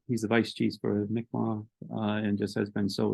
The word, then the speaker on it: Mi'kmaq: Mi'kmaq. That's the native pronunciation of the word Micmac. Micmac is the European version.